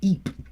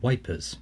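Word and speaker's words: Ypres: was an injured McElveen it was EEP or as they used to call it wipers because they can plows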